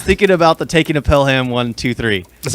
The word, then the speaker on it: Pelham One Two Three: this i was thinking about the taking of pelham one two three that's how you say it that's how you say it tell him yeah i call him pillow pelham pelham 123.